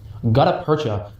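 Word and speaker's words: gutta-percha: Gutaperta, I looked up the pronunciation of that one, boys, is a type of plastic.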